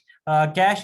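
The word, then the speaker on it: cache: कुछ स्टूडेंट्स इसको कैश ही भी पढ़ते हैं, ठीक है, आपकी मर्जी आप इसको कैसे प्रोनाउंस करोगे। कैश इज the proper term, ठीक है।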